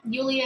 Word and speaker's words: Yulia: My real name is Yulia, which is Yulia. But I spell it as Yewleea because when I write it